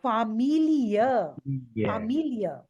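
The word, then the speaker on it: Familie: e e yeah e but sometimes it is also pronounced as yeah also comes after that yeah can you give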